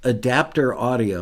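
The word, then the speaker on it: ADPTR Audio: at the publisher supplied in a plug-in called adapter audio and I'm going to spell that for you it is a d p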